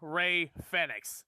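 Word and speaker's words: Rey Fénix: from now on we will be calling him ray fenix because that is the right way to pronounce it the word corrects me every time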